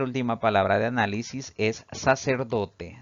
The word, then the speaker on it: sacerdote: palabra de análisis es sacerdote si dividimos en sílabas esta palabra tiene cuatro sílabas sin embargo la mayor fuerza de voz al pronunciarla recae en la penúltima sílaba contando de derecha a